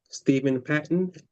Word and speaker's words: Steven Patton: Steven Patton, let me have you say and spell your name just to make sure that I'm pronouncing it correctly and everything is a okay. Stephen Patton.